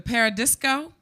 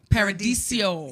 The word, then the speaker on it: Paradiso: Constitution Hall in D.C., the Paradisco in Amsterdam. Paradiso. Yeah. I'm glad you're sitting here to tell me how to pronounce it.